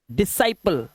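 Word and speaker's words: disciple: जैसे एस सी आई इ एन सी ई से पढ़ते हैं साइंस तो यहां पर सी साइलेंट ऐसे ही सीन सी साइलेंट डिसाइपल चेले को बोलते हैं शीशे को और मसल्स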